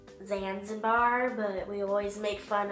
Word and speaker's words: Zanzibar: me at vasim bar in YouTube actually it's pronounced Zanzibar but we always make fun of because you